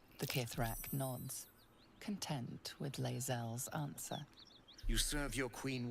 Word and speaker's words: Lae'zel: And then Pizza Box Gaming did a super chat, says, I'm having fun and romance Lae'zel. So now I know it's not Lae'zel, it's Lae'zel, which I didn't even know.